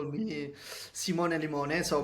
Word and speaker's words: Simone: used to call me Simone Limone. So my real name is actually Simone, and it rhymes with limone.